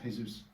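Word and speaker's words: Jesús: Well, in Spanish, in the Spanish language, Jesus is pronounced Jesus. That's just how it is.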